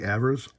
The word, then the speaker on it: Evers: Now this here is a picture of Johnny Evers. I say Evers. I know some people will say Evers, but I believe his name is pronounced Evers.